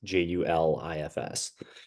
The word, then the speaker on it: Juilfs: It's actually pronounced Juilfs. It's spelled Juilfs, but it's pronounced Julifs. Okay, cool.